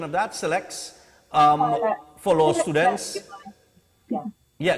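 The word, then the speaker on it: CILEX: And SILEX, C-I-L-E-X, would I be correct in the pronunciation of that? SILEX, for law students.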